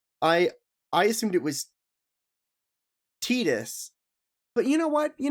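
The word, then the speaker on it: Tidus: by the character indicate that it is pronounced tetus in the English version of Kingdom Hearts 2 no no I I have heard Titus is more tetus tetus is the official pronunciation yeah tetus is the official pronunciation honestly I did not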